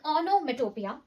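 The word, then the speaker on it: onomatopoeia: इसको हम प्रोनाउंस करते हैं एज ओनोमेटोपिया एंड इट is basically words given for sounds.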